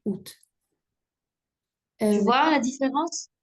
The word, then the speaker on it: août: Exemple, août est une synérèse puisqu'il ne se prononce pas à août mais août.